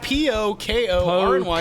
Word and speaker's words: Pokorny: It's phonetic. P-O-K-O-R-N-Y. Pokorny. Pokorny. Now, in Chicago, it might be pronounced Pokorny. Pokorny is the other pronunciation.